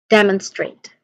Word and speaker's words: demonstrate: The first syllable is dem. Dem. It carries the primary stress also. So it sounds like dem and demon with a short E sound in the bed. And then n with a schwa sound, the syllable sounds like un. Keep it short and unstressed. Demonstrate. Straight. There's a diphthong sound here, a. So a, straight.